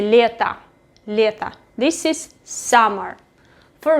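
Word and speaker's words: лето: season is letta letta pay attention that i don't pronounce o i say letta letta this is summer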